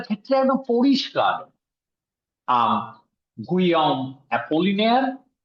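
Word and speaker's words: Apollinaire: তো এই গুয়াম অ্যাপোলিনিয়ার পিকাসোকে, হ্যাঁ ভোলারই হবে কারণ অ্যাপোলিনিয়ার, এটা এলটা উচ্চারণ হচ্ছে, এটা আমি জানি অ্যাপোলিনিয়ার, সুতরাং ওটা ভোলারই হবে, আপোয়াস ভোলার।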